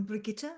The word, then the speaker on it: Brigitte: And Bridget and Murray. Brigitte. Yeah, I'm Brigitte. It's German.